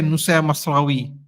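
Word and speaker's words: Mazraoui: please don't be offended a lot of people don't want to say na masawi you know because that's how that's how you actually say his name I can't get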